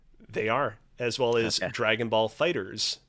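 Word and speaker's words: Dragon Ball FighterZ: are as well as Dragon Ball Fighters pronounced with an S even though it's a z H yes yeah all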